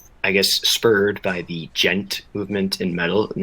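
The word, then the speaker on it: djent: Um, and I guess spurred by the gent movement in metal and that's spelled DJ E N T and it is rem it is uh defined as anamanopia for the sound like you'll you'll know it when you hear it.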